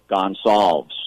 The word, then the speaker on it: Gonsalves: Gonsalves, right? Gonsalves is the pronunciation of my last name.